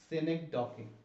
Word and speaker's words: synecdoche: जो इसकी पहले देखते हैं प्रोनाउंसिएशन क्या है। सेनेक्डोकी, सेनेक्डोकी, SYNECDOCH, लेकिन सेनेक्डोकी इसका प्रोनाउंसिएशन बनती है।